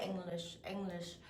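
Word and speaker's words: Englisch: 근데 독일어에서는요, NG가 되면, 영어에서도 NG는 응 발음이잖아요. 이응 받침이잖아요. 독일어에서도 이응 받침이거든요. 근데 이응을 다 연소시켜요. 이응 받침으로. 그래서 English, G 발음이 살아있지 않고요. eng에서 끝나요. 그 다음에 lish예요.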